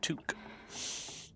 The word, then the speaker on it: toque: It's pronounced toque.